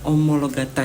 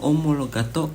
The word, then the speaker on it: Omologata: sto super trofeo omologata dibacanya omologata ya bukan omologato karena ada beberapa reviewer yang membaca seperti itu yang benar adalah super tropeo omologata Ini adalah sebuah mobil